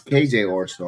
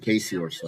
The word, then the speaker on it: KJ Orso: Oh, it's KJ Orso. I thought it said Casey Orso. I got his name wrong.